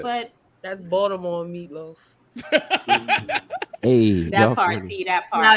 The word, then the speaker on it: Baltimore: She said Baltimore. It's Baltimore. Exactly. She said it right. There's no T.